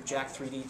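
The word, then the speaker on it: Jack3d: A product like USP Labs Jacked or Jack 3D, depending upon how you want to pronounce it, is going to be what we consider a concentrated pre-workout.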